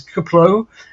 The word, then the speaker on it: KPLO: little more of an unpronounceable acronym it's kaplow kplo the career Pathfinder Luna